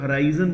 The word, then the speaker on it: horizon: इसका उच्चारण थोड़ा अलग अलग है, कुछ लोग हराइजन बोलते हैं, कुछ लोग हॉरिजन बोलते हैं, राइट।